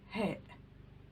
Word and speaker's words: ه: The letter he. He. It is like the letter H in the word he in English. It is he. He. He. He.